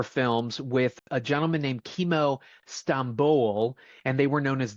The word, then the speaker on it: Timo Tjahjanto: It's Timo Tjahjanto. So apparently the TJ in Indonesia is CH.